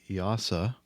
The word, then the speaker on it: EASA: FTE, CTC and Oxford Aviation and clarification on the pronunciation of YASA. Um, that sounds much better than whatever I was saying, the EASA, formerly the J AAA and uh, yeah, ATPL license.